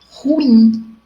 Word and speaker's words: ruim: Ruim e não ruim. Muitas vezes falamos ruim, isso é ruim.